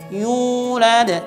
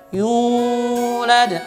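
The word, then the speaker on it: يولد: korawa maka ini salah yang benar cuma dua harakat yunada Yul ada tidak boleh dibaca nyul ada atau dibacakan nyurat itu salah makanya benar adalah walam Yoona kemudian kan saya bacakan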